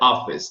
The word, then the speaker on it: office: Esse E no final de sílaba não é pronunciado geralmente. Office. Office. Então vai parar no som do S. Office. Como se esse C fosse um S.